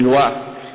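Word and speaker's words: loa: Les djinns, ils ne les appellent pas djinns, ils les appellent des lois. Ça s'écrit L-O-A.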